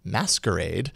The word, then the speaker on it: MSQRD: that sort of way an app called msqrd but meant to be pronounced as masquerade is here to creep